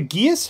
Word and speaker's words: geas: Is it a geas? How do you pronounce it? Geas. Gather your party before venturing forth. Kind of like gay ass, but less enticing.